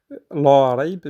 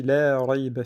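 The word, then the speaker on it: لا ريب: Donc on dit pas la raib, mais on dit la raib fi.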